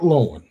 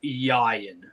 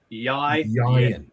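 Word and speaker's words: Ieuan: So it is Yayan. Yayan. And the best way I can probably teach people to pronounce it is think of Ryan, but replace the R with a Y.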